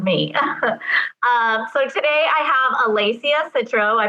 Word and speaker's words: Alessia Citro: So today I have Alessia Citro. I pronounced that right.